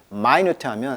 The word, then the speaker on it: minute: 이게 명사로 하면은 1분 할 때 minute지만 형용사로 쓸 때는 I 발음이에요. 그래서 minute 하면 아주 작은 이런 뜻이거든요.